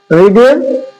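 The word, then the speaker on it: read: রিড রিড মানে পড়া রিডের কোন চেঞ্জ হবে না ভার্ব টুতে রেড এবং ভার্ব থ্রিতে থাকবে রেড উচ্চারণ হবে রেড তাহলে রিড রেড রাইট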